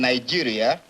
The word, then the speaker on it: Nigeria: Well, I was born at Ibere in Nigeria.